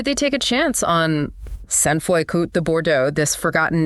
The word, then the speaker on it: Sainte-Foy: And for anyone wondering, it's pronounced Sainte-Foy.